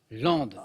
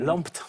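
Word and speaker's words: Lempdes: Et puis au début, j'écorchais, mais bien. Parce que ça s'écrit L-E-M-P-D-E-S. Alors, je sais pas ce que je disais. Qu'est-ce que je disais, Claude? Lampt. Lampt, voilà, phonétiquement, quoi.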